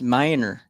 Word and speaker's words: Manier: street uh what's the how's it spelled m-a-n-i-e-r oh that's minor Miner see on Manor